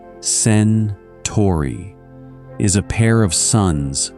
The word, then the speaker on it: Centauri: Alpha Centauri, first of the household, pronounced sen-TAWR-ee, is a pair of suns circling each other closely, and the larger of the two is nearly a twin of ours.